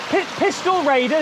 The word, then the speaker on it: Pistyll Rhaeadr: But we've come to visit a waterfall called, let me try and pronounce it here, Pistyll Rhaeadr? What do you think, Matty? Pistyll Rhaeadr, is that right?